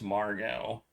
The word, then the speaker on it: Margot: Maybe it's Margo with no You don't pronounce the T.